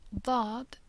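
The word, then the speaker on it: ض: a heavier s and do is a voiced or heavier version of D that we learned last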